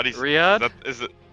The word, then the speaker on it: Riyadh: How do you Riyadh? Is it Riyadh?